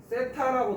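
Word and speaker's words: θ: 세타라고 놓죠. 번데기 발음, th 발음.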